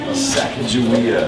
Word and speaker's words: Sacagawea: Sacagawea.